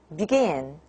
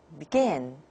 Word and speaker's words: begin: When the word stress is on the second syllable, like begin, begin, and you can hear that the b, the unstressed syllable, is pronounced very, very weak. So begin, begin, not begin.